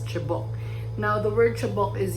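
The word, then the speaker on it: cebok: But the chabo is spelled as C-E-B-O-K but pronounced as chabok.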